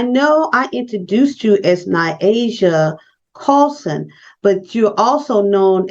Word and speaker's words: Niasia: they get to know me they know it's Nyasia what a beautiful name what a beautiful name